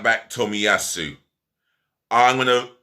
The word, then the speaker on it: Tomiyasu: The right back, Tomiyasu. I'm going to pronounce his name again.